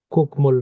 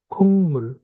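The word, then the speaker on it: 국물: ঠিক আছে, কুকমুল না, এটা হচ্ছে খুংমুল।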